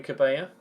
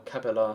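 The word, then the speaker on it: Cabella: to be honest I mean I like gy cabaya or cabalar sorry because he's French not Spanish so he actually pronounced the else I like Remy cabalar I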